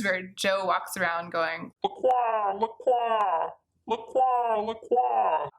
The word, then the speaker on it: La Croix: I love La Croix, for example, although I know it's supposed to be pronounced LaCroix. that right? LaCroix. To me, it will always be LaCroix because that's just how I've read it.